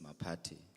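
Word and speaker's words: Maphathe: Um like you said my name is and the surname is Mati. Oh Mati Mati. Yes. Okay. But it's spelled MP or M A.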